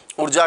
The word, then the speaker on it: ऊर्जा: ही होता है क्या ऊर्जा का उ दीर्घ ही होता है क्या तो इन चीजों